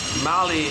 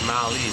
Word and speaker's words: Mali: Mali is that country has two syllables, Mali, two syllables.